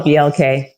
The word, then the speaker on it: BLK: I don't know, how do you say it? Black or BLK? I call it BLK.